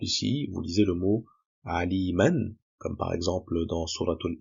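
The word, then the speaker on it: عليما: Donc effectivement, si on s'arrête sur le mot aliman, on prononcera le alif. Quand on remplace bien at-tanwin à l'arrêt par un alif qui est prononcé de deux temps. Donc au lieu de dire aliman, on dira alima.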